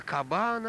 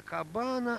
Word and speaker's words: кабана: и тут каплан прервал не на кабана а на кабана acer вертинский который был рим склонит почему же ударение было правильно именно так надо говорить именно так и говорят кабан кабан а к планка плана